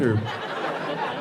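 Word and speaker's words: eau: is pronounced o and it's spelled with three different vowels none of which are o the the vowels unionize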